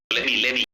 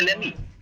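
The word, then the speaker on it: let me: দেখো কেমনে turn hold করতে হয় যেটা আমি বললাম কিমি লেমি লেমি লেমি লেমি লেমি লেমি লেমি না লেমি এটাকে টি এর উচ্চারণটা বাদ দেয় এই কারণে হয় লেমি এইযে এরকম উচ্চারণ করেমি ক্লেমিফিনিশ কি ডাবলে উচ্চারণ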